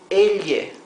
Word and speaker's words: elle: Double L has its own pronunciation. It would be il, similar to the GL in Italian. So this would be elle, right? In some Spanish-speaking countries like Argentina and Uruguay, the sound would be sh, but for most other countries it's elle.